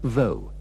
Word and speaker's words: though: the words although and though the o u h at the end is pronounced with the sound of the O in go although he was very ill he tried to escape from prison though he hadn't murdered anybody